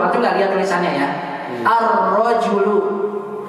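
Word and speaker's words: الرجل: Ar-rojulu. Antum dengar ada alnya? Pasti antum akan menyangka gini tulisannya. Ar-rojulu. Begitu kan? Tidak ada apanya? Tidak ada lamnya.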